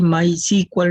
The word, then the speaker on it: MySQL: sql server oracle y mysql maíz y cual le llaman también así lo pronuncia el progress así hay varios